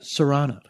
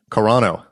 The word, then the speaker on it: Serrano: pronounce it correctly. Serrano. Carano. No, because I called you Carano last time, and you corrected me. We'll go with Serrano.